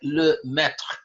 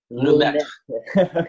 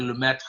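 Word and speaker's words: Lemaître: He says it's sort of like Lemaitre. Lemaitre. Yeah. Now most people say Lemaitre. That's how I say it. Yeah, but it's apparently Lemaitre.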